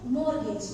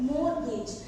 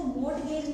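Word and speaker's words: mortgage: जी ई है राइट मोर गेज तो टी य प साइलेंट होता है इसलिए इसको मोट गेज नहीं इसको मोर गेज बोला जाता है इसका मतलब होता है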